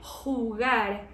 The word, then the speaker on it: jugar: In Spanish, the letter J is pronounced like ja, okay? Very strong. And the H, well, the H is silent. So mispronouncing this can make your speech a little bit difficult to understand. For example, if you say jugar, to play, jugar, right? Not jugar, but jugar.